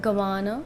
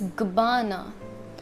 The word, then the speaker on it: Gabbana: It has emphasis more on B of Gabbana. It's not Gabbana, it's Gabbana.